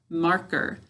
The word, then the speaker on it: marker: All right, let's try marker. Now, marker. All right, that's with the stress on the first syllable, marker.